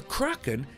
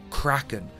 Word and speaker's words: Kraken: The word is actually pronounced Kraken, but when McNally initially said the creature's name, he pronounced it Kraken, which caught on with the rest of the cast.